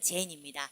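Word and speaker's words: 禅: 그렇게 알려진 것이 선, 일본식 발음으로는 젠입니다.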